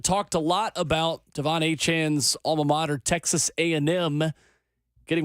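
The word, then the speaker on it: Achane: Devon A-Chain, or I should say his name is now Devon A-Chan. He's asked for it to be changed.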